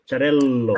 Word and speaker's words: Xarel-lo: We use the dot between two L's just to pronunciate the L longer. Xarel-lo. Okay. When Ah, the L is longer, we usually use the L dot L. But it's just to identify that this L sounds longer than another one.